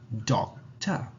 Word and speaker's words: doctor: in a relaxed tone remember that the schwa is always relaxed in an instance so we end up saying doc top doctor moving on to the